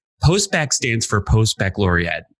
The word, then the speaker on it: post-baccalaureate: Okay, but, so it's post-baccalaureate, to be clear, not post-bachelorette.